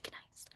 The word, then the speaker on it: gneiss: I should say nice. I know that's how you say it, but I have to say gneiss.